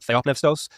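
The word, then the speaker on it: θεόπνευστος: Well, I use modern Greek pronunciation just because I've worked with a lot of modern Greek speakers. So I pronounce it theopneustos, but others would say theopneustos or something like that.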